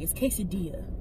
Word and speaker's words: quesadilla: Do y'all say quesadilla or quesadilla? First off, either way, if you pronounce both of those, you're ignorantly wrong. It's quesadilla.